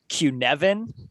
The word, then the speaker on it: Cynefin: decision making framework that's called qnevin and it's spelled c-y-n-e-f-i-n so nothing like what you would say reading it and say q-nevin and that is because it is a welsh word for habitat or maybe familiar um and so